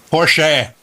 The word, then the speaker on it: Porsche: I met him said Porche Porche oh Porche it's Austrian and that's how they pronounce that final e it's sort of like